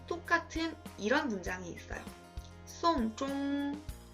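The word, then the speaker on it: 送钟: 송종, 장례를 치르다 라는 문장과 송종, 괴종시계를 주다 라는 문장이 한자 다르죠? 한자 다르고 의미도 다르지만 발음이 똑같아요.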